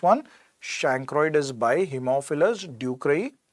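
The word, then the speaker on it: ducreyi: shankaroid is by hemophilus ducray we pronounced it as patients do cry that means it is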